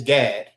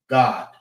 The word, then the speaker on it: Gad: But Gad is Gad, and in the Hebrew, it's God.